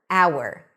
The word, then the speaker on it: hour: Because the H is not pronounced and we're actually starting with a vowel. Thee hour, hour, thee hour.